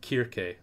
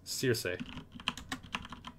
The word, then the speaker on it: Circe: In Greek/Latin, Horth says, Circe is pronounced Kirke. In the English version of the Greek name, it's Circe. Circe.